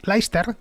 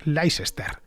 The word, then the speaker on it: Leicester: ciudades nacida en inglaterra que se llama leicester escrito así pronunciado de manera fonética que los ingleses dicen laister sí sí mal si los gringos dicen leicester pasa lo mismo con